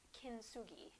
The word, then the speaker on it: kintsugi: So in Japan, they have a art technique called, and I'm sure I'm probably not pronouncing it right, but it's kintsugi.